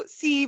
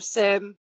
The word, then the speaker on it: SIEM: Um yeah, so SE or SIM heard it pronounced both ways stands for security information and advanced management.